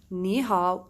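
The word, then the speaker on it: 你好: the meaning sorry rule our rule is saying if you have a third tone with the third tone you change it to become second tone with third tone only on pronunciation we started with d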